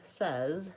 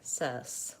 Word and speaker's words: says: this word is that people will devoid final Z sound so their word says sounds more like cess with an S nob instead of a Z this happens on many